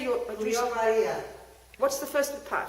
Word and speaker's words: Cleo: Cleo Maria. What's the first part? Cleo. Cleo? C-L-E-O. C-L-E-O. Cleo Maria. K-L-I-O. Okay, thank you. Cleo Maria, I'm very happy.